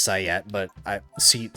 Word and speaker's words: SEAT: Take a seat. Take a seat, please. Yes, I know it's pronounced sat, but I seat sounds cooler.